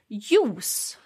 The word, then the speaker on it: juice: if you remember that we don't use the j sound yeah so we just pronounce it with a swedish kind of accent so we say use use okay use um so